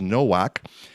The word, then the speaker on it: Nowak: I say Novak, he says Nowak, and he's no relation.